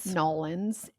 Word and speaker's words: New Orleans: Then we took our asses to New Orleans, where I learned how to pronounce the state or the city's name. Nolans.